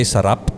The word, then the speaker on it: sarap: If you're gonna say sarap, you need to kind of roll your R's.